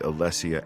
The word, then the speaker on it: Alessia: Saint Alessia is usually said like this. You need to find the Staff of Saint Alessia and return it to Surak at the Chapel of Talos in Bruma.